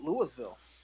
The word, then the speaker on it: Louisville: Yeah, I call it Louisville. Who calls it Louisville? In different parts of the country, and it can be pronounced either way.